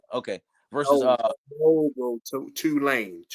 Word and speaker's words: Tulane: Talani. Okay. Versus No, bro. Tulane. Tulane. Okay. Well, it's kind of self-explanatory right there. Tulane, like you say to it. I got you. Tulane versus Oklahoma 15.